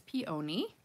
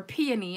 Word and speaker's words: peony: I say it wrong every single time. I've always said peony, but it's peony, peony. So you got to say peony. So put the emphasis on the P and not the O.